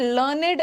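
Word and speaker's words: learned: बट लर्नेड एज a third form, जब लर्न का third form आता है ना, तब इसका प्रोनाउंसिएशन लर्नेड हो जाता है और ये एडजेक्टिव बन जाता है।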